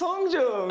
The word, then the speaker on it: Hongjoong: This is how they pronounce their names. Hi, my name is Seonghwa. My name is Hongjoong.